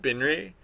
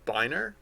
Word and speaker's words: Binre: I pronounce it Binri, although I think technically the a more correct pronunciation might be Biner. Um, I pronounce it Binri though. I wasn't like it was